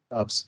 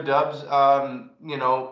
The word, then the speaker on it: Doubs: Is it Doubs? I wouldn't even know how to guess. It's Romeo Doubs.